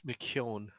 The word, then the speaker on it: McKeon: It's McKeown.